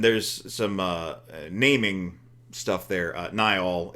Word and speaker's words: Niall: Niall is often pronounced Neil.